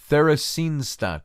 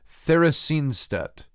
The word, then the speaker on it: Theresienstadt: his wife and parents were deported to Nazi Theresienstadt I think is the way you you pronounce that Theron Theresienstadt that it was a ghetto just like think